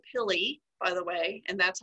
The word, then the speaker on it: pili: um they're all called pili by the way and that's how it's pronounced this word is pronounced philly um which are short